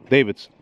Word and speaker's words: Davidson: an OCD thing, but it should be pronounced correctly. Davidson, like Harley Davidson.